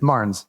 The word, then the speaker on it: Marnes: Is that how we're pronouncing it? Marnes, yeah.